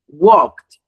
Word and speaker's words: walked: Walked, not walking.